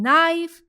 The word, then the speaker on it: knife: In knife and not, K and K are the silent alphabets.